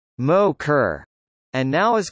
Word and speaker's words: MOCR: The room where the flight controllers work was called the Mission Operations Control Room (MOCR), pronounced Mo-Kerr, and now is called the Flight Control Room (FCR), pronounced Ficker.